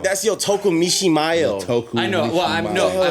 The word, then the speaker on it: Yotoku Mishimaru: Yotoku Mishimaru.